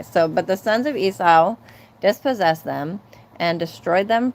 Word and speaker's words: Esau: but the sons of Esau. Now tell me, do you guys pronounce it Esau or Esau? Because all my life I thought it was Essa and then recently I heard that it's actually Esau.